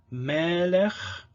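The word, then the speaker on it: מֶלֶךְ: Melech, so stressed and open, long. Second syllable is unstressed and closed, so it's short, melech.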